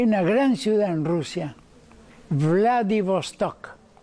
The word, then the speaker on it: Vladivostok: Hay una gran ciudad en Rusia, Vladivostok, con V corta, Vladivostok se pronuncia, que va a tener un gigantesco accidente.